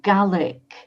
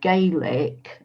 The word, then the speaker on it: Gaelic: And I gather Gaelic, it's like the Irish word Gaelic, only in Scotland you pronounce it Gaelic, but Yeah.